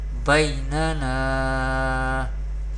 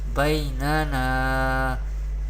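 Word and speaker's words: بَيْنَنَا: And ya leen we pronounce ya leen without stretching or without sudden pausing the voice. We pronounce like this, bainana, bainana.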